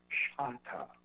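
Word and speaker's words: Chahta: I found out later on that the correct pronunciation is Chata, and that the real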